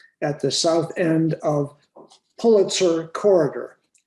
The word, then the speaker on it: Pulitzer: the south end of pulitzer corridor betsy taught me how to pronounce that word correctly like the chicken of the thousands of